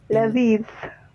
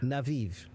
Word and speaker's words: لذيذ: إنه لذيذ. Inahu لذيذ. naviv.